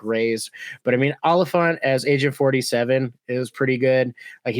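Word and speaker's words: Olyphant: is actually pronounced Timothy Oliphant not all the font yeah he says it's like an elephant but with an O okay yeah it's pretty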